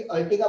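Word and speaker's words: Ertiga: मेरी जो कार है वो है, अगर आप लोगों को मारुति सुजुकी की अर्टिगा पता है, मारुति सुजुकी अर्टिगा, एर्टिगा अलग अलग लोग अलग अलग प्रोनाउंस करते हैं।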